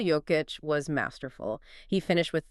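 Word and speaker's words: Jokić: Nicola Joic, for anyone unsure, that's pronounced Nicola Joic was masterful.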